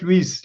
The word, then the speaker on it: Luis: Louis, I'm just going to start by asking how much have I butchered your name. Okay. No, thank you very much. It's just just Luis Luis.